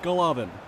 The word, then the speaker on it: Golovin: Also, it's almost certain that his name is pronounced Golovin.